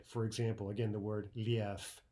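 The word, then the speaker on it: лев: Instead of liev, we say lief, lief, right? Devoicing of the final consonant.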